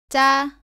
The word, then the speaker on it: 짜: 다음은 자, 짜, 차입니다. 모두 자와 발음이 비슷한데 짜는 자보다 세게 발음하고 공기가 나오지 않습니다. 차는 자보다 공기가 많이 나옵니다.